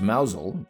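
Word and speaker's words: Mousehole: Pronounced Mousel, its name comes from the Cornish words mouse,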